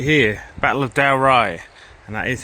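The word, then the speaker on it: Dalrigh: medieval Scottish history happened right here Battle of dowy and that is how you pronounce it there's a lot of places in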